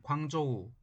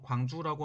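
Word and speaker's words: 广州: 그래서 인도에 갔다가 돌아올 때에는 광주, 현재의 중국의 광둥성의 성회인 광저우, 한자 발음으로 광주라고 하는 지역에 오려고 했습니다.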